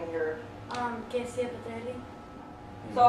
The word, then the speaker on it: Kezia Petrelli: Kezia Patelli.